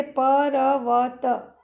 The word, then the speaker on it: पर्वत: इसका अर्थ यह होता है कि व के आगे र का उच्चारण आधा होता है। तो यहाँ र पहले बोला जाता है, बाद में व बोला जाता है, पर्वत।